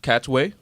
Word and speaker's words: Katwe: she's starring in a new movie queen of cats way did I pronounce that right yes okay she plays Harriet